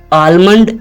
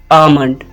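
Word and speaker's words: almond: pronounce करेंगे आमंड आमंड आलमंड इसकी गलत प्रोनंसिएशन है और और सही प्रोनंसिएशन क्या है आमंड मेरे साथ कहे आमंड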